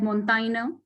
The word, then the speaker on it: Montaigne: We say that Montaigne, this is how he's pronounced in French.